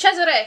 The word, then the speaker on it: Cesare: a company by cesare so it's pronounced cesare because Northern Italy cesare okay for months he